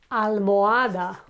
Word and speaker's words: almohada: Okay, another example is almohada. Almohada is a pillow. Okay, so again, we do not pronounce the H. Okay, almohada, the pillow, and there is no h sound in it.